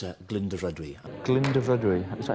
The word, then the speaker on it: Glyndyfrydwy: I think it's Glyndyfrydwy. Glyndyfrydwy. I think the R is silent. Dyfrydwy, right. So it's Glyndyfrydwy.